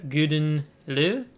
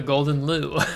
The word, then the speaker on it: Gouden Leeuw: of this ship uh previously i've always called this the golden lou so uh and i realized today that there's no uh l in this so um i think